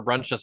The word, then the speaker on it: Bruintjes: It's my name, Brunches at PVSBD. you got a crazy last name, man. Bruin. Yeah. Breakfast and lunches, and you have brunches, and that's how you would pronounce it.